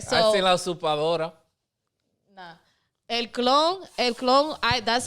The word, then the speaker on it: Usurpadora: All right, so I seen La Usurpadora. nah. El Clon. That's how I learned all about. La Usurpadora.